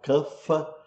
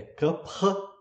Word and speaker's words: kapha: E kapha, atenção, kapha não é pronunciado kapha, como se pronuncia em geral no Brasil, está errado falar kapha, né? É kapha.